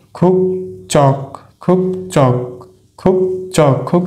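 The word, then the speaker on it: 국적: খুব আমরা এখানেও দেখতে পাচ্ছি বাচ্চিম হিসেবে আছে ক ধ্বনি, এরপরে আছে জিউত, তাহলে এই জিউতের উচ্চারণ আমরা কি বলবো? চ, চর মতো, তাহলে খুব চক খুব চক খুব চক খুব চক।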